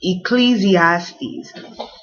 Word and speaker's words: Ecclesiastes: And then this is a long word, Ecclesiastes.